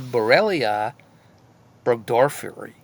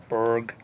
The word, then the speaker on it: Borrelia burgdorferi: So, Borrelia and Burgdorfia. Burgdorferi. Sorry. What a mouthful.